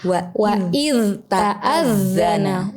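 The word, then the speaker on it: وإذ تأذن: Wa itta'adzana begitu. Padahal tidak begitu. Harusnya diizharkan, kemudian direhwahkan. Rehwah itu dialirkan suaranya. Jadi yang betul bukan wa itta'adzana tapi wa iz ta'adzana.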